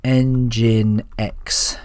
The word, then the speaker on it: nginx: going to run a very basic en oops spell that right engine X server inside here okay so let's get straight